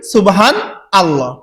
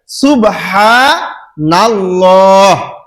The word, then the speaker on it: সুবহানাল্লাহ: কয়টি চারটি এক সুবহানাল্লাহ আমরা তো সবাই পাঠ করি সুবহান আল্লাহ কিন্তু আসলে সঠিক শব্দ হবে কি উচ্চারণ হবে সুবহান নাল্লাহ সুবহান নাল্লাহ নুন নুন লাম জবর নাল সুবহা নাল লাহ যেমন আল্লাহু আকবার আলিফ থাকার কারণে হলো আল্লাহু তো সামনে নুন আসার কারণে হবে কি নাল্লাহু যেমন সূরা বাকারায় আছে